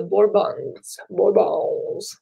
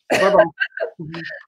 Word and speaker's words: Bourbon: His three sons would rule in succession for 30 years before the power shifted to the Bourbons. Did I say it right? Bourbon. Bourbon. Don't pronounce the S's.